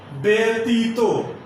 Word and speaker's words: ব্যতীত: একইভাবে ব্যতীত, ব্যক্তিত্ব ইত্যাদি শব্দে যে জফল আছে তার উচ্চারণ হবে এ এর মতো।